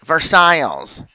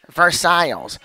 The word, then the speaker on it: Versailles: of the names right i said for the mercedes palace and jeff goes versailles versailles oh okay that's how it's correctly from stan you know